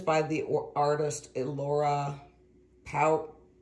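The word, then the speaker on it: Pautrat: by the artist Laura power power at p a u t r a t I believe the t is silent but I am not 100% let's get this out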